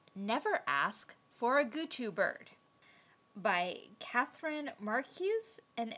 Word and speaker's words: Goochoo: illustrated by Irvine metel how did you pronounce that again this yeah guu when I first heard her say the name of this book I heard Gucci no not a purse yeah nice simple illustrations